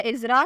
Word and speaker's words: IZRAH: नाम है इज़रा, स्पेलिंग है IZRAH।